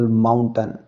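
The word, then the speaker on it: mountain: Rule यह कहता है जब किसी वर्ड के अंत में टी ए आई एन लगा हो तो ए आई का उच्चारण अ होता है। जैसे कि एग्जांपल माउंटेन। माउंटेन के लास्ट में टी ए आई एन आया तो यहां ए आई का उच्चारण अ हुआ है।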